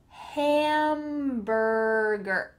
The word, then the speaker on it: hamburger: Martin in this movie, hamburger. Make sure that the H has some air coming out, hamburger. Those two final sounds are quite similar, er, gr, er, er, hamburger.